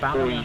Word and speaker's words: Ballina: So I've been saying it wrong all this time. It's Ballina.